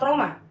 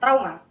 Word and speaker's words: trauma: Pelafalan diftong au dilafalkan dengan mengucapkan vokal u yang kemudian diganti dengan vokal o. Tetapi, pelafalan diftong yang benar adalah au. Saat menyebutkan diftong au, vokal yang terlibat harus diucapkan dengan artikulasi yang jelas sebagai a yang diikuti oleh u tanpa jeda.